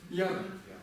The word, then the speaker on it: དབྱར: например, объясню еще раз, читается вверх, то есть сама ба не читается, читается все, что есть с ней, кроме ба. То есть смотрите, здесь у нас что есть? Я. Как это будет читаться? Яр. Яр это лето.